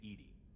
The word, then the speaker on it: EDI: Why are you named Edie? is the pronunciation of EI. That is an acronym for enhanced defense.